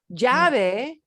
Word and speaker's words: llave: But now look at how close in pronunciation it is to llave.